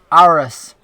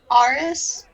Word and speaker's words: Aris: say your name was iris what was that artist aris yeah you know our artist it's not that hard two syllables man r is i'm very familiar with